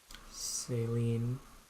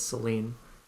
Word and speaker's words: Celine: Saline. Or Celine. Michael's talking about say ladies missing oh my god, engage. Yeah, I just pronounced it wrong. I think it's Celine.